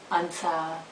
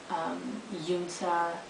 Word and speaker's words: Unsa: And it's just, people always pronounce it wrong with Unsa, Yunsa, Unka.